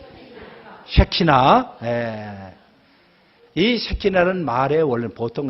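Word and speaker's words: שכינה: 발음을 잘하셔야 돼요. 새끼가 아니라 뭐라고요? 새키나.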